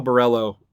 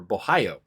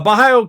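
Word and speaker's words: Borralho: just not uh uh kyle barello or bohayo pardon me uh versus armin petrosian i always gotta remember that's how it's pronounced uh bahayo came through with flying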